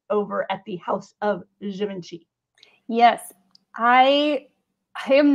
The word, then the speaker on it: Givenchy: We've got Oswald popping up in the Givenchy brand. By the way, I learned that you pronounce that G as like a ZH. Givenchy.